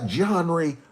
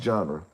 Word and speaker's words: genre: You got your gangster rap Johnry. I know it's pronounced genre.